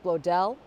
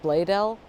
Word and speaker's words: Bloedel: I think that, so it's BLOEDEL, and around here this must be like a like a German integration. This is a highly German populated area. OE in people's last names often goes to an A sound here. So I think that's why I was thinking it was Blodell, with the emphasis on the second syllable.